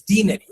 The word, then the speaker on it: denary: it that way that day that the proper pronunciation for it's for this word it's not deny it's denary.